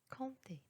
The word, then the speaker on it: compter: Il y a encore une autre règle لكن يوجد استثناء ل P الذي يوجد في وسط الكلمة والذي لا ينطق وهو في هذه الكلمات temps, temps, longtemps, corps, compter.